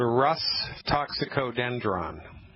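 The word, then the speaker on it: Rhus toxicodendron: sounding remedy first I'll say it then I'll spell it it's called Russ toxicodendron all right ready to spell it yes all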